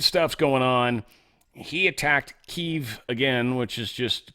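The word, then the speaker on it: Kyiv: He attacked Keev again, which is just Kiev, but it's how they say it when it's pronounced in Ukrainian.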